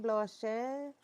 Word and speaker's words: Blanche: Les Dames Blanches, also known as the White Ladies, are, oh, La Dame Blanche. Oh, that's how you say it, Blanche. Blanche is white.